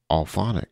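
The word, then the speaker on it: Auphonic: Alphonic is the word. I say it the same way you would say like audible, except it's phonic, so alphonic.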